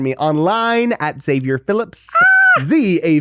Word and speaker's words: Zavior: Zavior. It's not Xavier.